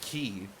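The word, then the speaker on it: cay: saying is that apparently the correct pronunciation of c-a-y in Pirate speech is key that's what I'm saying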